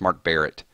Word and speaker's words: Mark Barrett: screwed your name up it's not even Mark Bennett it's Mark Barrett sorry Mark Barrett it's